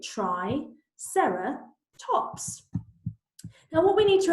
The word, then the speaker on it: Triceratops: Triceratops means three-horned face how do you say it try Sara tops now what we need